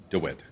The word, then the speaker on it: DeWitt: DeWitt.